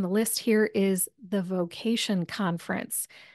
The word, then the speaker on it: VOcation: Also, last resource on the list here is the Vocation Conference. That's spelled just like vocation, the word, but it's V-O-cation, like voiceover. V-O stands for voiceover.